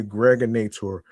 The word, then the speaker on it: Gregonator: This is your man and homie, aka the Gregonator, rhymes with now or later.